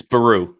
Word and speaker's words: Beru: Can you can you get the pronunciation correctly? It's Beru.